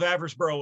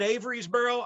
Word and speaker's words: Averasboro: So with that said, let's talk about the Battle of Aversboro a little bit. And, Bill said Avery'sboro, I said Aversboro. This is a question I asked Pete. I've heard it pronounced both ways.